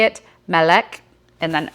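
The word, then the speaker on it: מלך: then it says transliteration how to say it, "Melech", and then how it's written in Hebrew.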